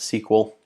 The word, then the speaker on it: SQL: again really quick recap remember we pronounce the sequel um that's probably how you would you know phonetically spell that out um it's the language